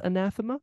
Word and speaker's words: anathema: while to figure out how to pronounce anathema how did you pronounce it I think I did it like a Samantha kind of thing oh yeah because of the Tha but that's just because I'm